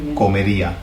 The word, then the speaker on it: comería: on the end, and the accent is on the I. So the emphasis goes on the I of that. So it's ia. Yeah, comería, hablaría.